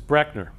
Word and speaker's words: Brechner: of the name so my last name is actually mispronounced by almost everybody that's the way it's actually pronounced is Brechner so if you take